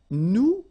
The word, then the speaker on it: nous: you remember correctly, so final S is not pronounced here. Okay, and then this O-N, so it's a nasal and it goes in your nose and it goes like on. All right, so you don't hear any N, so it's really on.